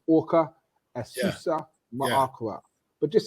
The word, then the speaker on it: Aqa: That's because it looks like you do it phonetically, but it's comedic, pronunciation. So Orca.